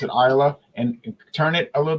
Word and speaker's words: Islay: Isa and um islay Isa yeah but they pronounce it Isa and turn it a little bit and space